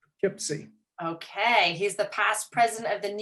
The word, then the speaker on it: Poughkeepsie: David Crenshaw, he is the clinical director of the Children's Home of, David, you're going to have to pronounce this for Poughkeepsie. me. Poughkeepsie. Poughkeepsie.